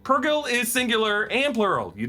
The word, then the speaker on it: Purrgil: That said, Purrgil is singular and plural. You don't say Purrgils.